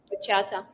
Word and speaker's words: bachata: How do you say it? The bachata? No, the Bachata. oh yeah, bachata.